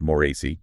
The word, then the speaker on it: Moretz: And it's Jenna Moretz, pronounced Moretz, just so everyone knows.